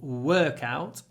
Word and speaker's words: workout: great workout this morning remember the stress is on the first syllable workout that means we get a longer W workout W workout it was